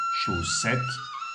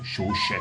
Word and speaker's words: chaussette: Un clin d'œil à Melba qui a encore des difficultés à prononcer les S. Bah oui, chaussette. Elle prononce Chauchette.